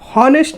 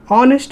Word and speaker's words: honest: Honest man. Don't think that here we have h. Okay. And it is a letter is a consonant. So it will take y it sound here the h is silent.